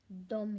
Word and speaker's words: dem: इसका मतलब है वह, दे, और ये भी है डोम, DEM, इसे भी हम डोम ही बोलेंगे, उन्हें।